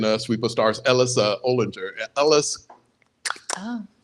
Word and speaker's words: Olinger: There's a character in a Sweep of Stars, Ellis Olinger. Ellis Oh. Olinger, I believe is how it's technically pronounced, or at least that's how it was in my head anyway.